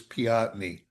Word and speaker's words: Peotone: However, there's a fellow that lives there who's a historian. He says, "No, the town was named after a chief of the local tribe and his name was Chief Piotny." Yeah, that no one ever knew. Piotny. Piotny. But, the local farmers and everything and everybody just knew it as Peotone, Illinois. But, it if you wanted to be correct, it was Piotny.